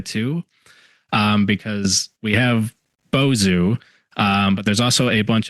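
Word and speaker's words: Bozho: get it right because in my head I always want to pronounce it Bozo, like the clown, but no. Yeah, Boozu is our resident sea serpent here in Madison.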